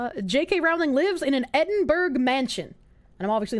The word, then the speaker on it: Edinburgh: It's pronounced Edinburgh. Edinburgh.